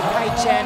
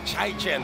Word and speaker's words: Chai Chen: And right away, Noel, they go down low to Kai Chen, and that has been successful for the Wolf Warriors. Yeah, I've been told his name is actually Chai Chen, the way we pronounce it.